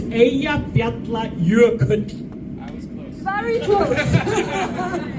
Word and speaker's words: Eyjafjallajökull: Eyjafjallajökull. Diabla, your cat. Perfect. Woo! Give yourself a round of applause. Now spell it.